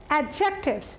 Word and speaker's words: adjectives: The actual pronunciation of this word is adjectives. D is silent in this word. So we will pronounce it adjectives, not adjectives.